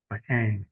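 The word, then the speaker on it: Ingres: And then this drawing by Ang is spelled I N Gre. Um this drawing is a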